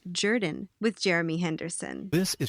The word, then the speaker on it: Jordan: You're listening to It's Pronounced Jordan with Jeremy Henderson. This is Shug Jordan, coach of the Auburn Tigers. Say what? No. It's pronounced Jordan.